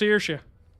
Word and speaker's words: Saoirse: It's pronounced Saoirse.